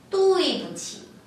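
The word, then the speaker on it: 对不起: 뿌가 단어 사이에 놓을 시에는 경성 가볍고 짧고 약하게 안 들려도 괜찮다라고 했죠?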